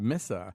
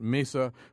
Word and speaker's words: Mesa: Ruiz pronounced Miss well she said missa the third largest city in Arizona locals pronounce it Mesa but many Spanish speakers and natives do say Mesa uh the news director